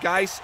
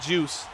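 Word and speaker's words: Guice: saying I hate that his name is pronounced guys and not juice and that would be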